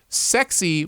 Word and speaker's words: SXY: Danae wrote back, sexy without the E, just like the other sounds. It's the sound sexy.